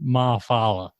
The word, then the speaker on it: Ma'afala: I like that you nailed that pronunciation on the first go too. Dude, Fumatu I've Ma'afala.